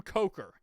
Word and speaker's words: Coker: Andrew Coker. And no, not like he takes coke, but yes, like he takes coke. Like, it's spelled like he's a coker. Like, coke.